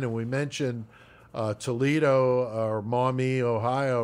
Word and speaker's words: Maumee: I'm going to say, Stephanie is going to be stoked that you pronounce Maumee correctly. Oh, I did. I think a lot of people say Maumee, like, you know what I'm saying?